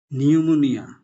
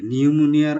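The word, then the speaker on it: pneumonia: টি এস ইউ এন এ এম I tsunami নিউমোনিয়া এনই ইউ এম ও এন আই এ নিউমোনিয়ার আগে কিন্তু একটা পি দিতে হবে যদিও পিটার উচ্চারণ হচ্ছে না সুনামির মত আগে টি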